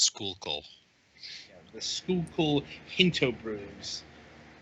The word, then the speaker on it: Schuylkill: Apparently, it's pronounced Schuylkill.